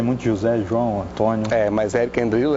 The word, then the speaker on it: Erich Endrillo: É um nome meio diferente assim, mas as pessoas às vezes têm dificuldade para pronunciar, mas é Eric Endrilho, exatamente.